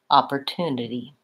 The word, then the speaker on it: opportunity: sounds together opportunity and Americans will make a slap with that T sound so it sounds a little bit more like a light D opportunity opportunity great in the word month